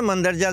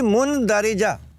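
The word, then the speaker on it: مندرجہ: एक बहुत ही मारूफ लफ्ज है मंदरजा झैल, ये भी मुनदरिजा, क्योंकि मीम नून से शुरू हो रहा है।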